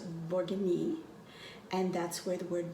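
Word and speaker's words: Bourgogne: best wine comes from in french that is pronounced borgini and that's where the word bourguignon comes from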